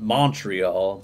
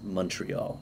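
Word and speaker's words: Montréal: as a text and I call it Montreal but I think the Canadian front seat pronunciation is Montreal right on yeah I'm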